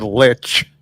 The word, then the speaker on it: lich: Rurik is trying to change the pronunciation of this word. The pronunciation of the word lich. To leech. Leash. Lich. I will win.